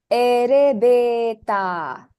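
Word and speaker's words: エレベーター: Now the word elevator in Japanese is erebeta. Erebeta. The le becomes re and the ve becomes be.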